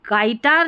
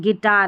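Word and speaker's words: guitar: यहां पर देखिए गाइड और यह गाइटार नहीं है। गिटार है।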